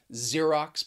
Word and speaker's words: Xerox: attention to the pronunciation xerox because the spelling and the pronunciation can be a little confusing and you could use